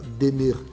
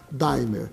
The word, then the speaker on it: Daimer: Nós resolvemos nacionalizar a marca, a palavra demer em dier, para que todas as pessoas possam, em qualquer parte do Brasil pronunciar a palavra como ela são, ela como ela é lida, daimer, tá certo? Mas demê significa de amar.